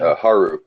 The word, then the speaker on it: Haru: and they definitely said that they introduced um hyro or huru how do you say her name Haru um yeah like she's in there you can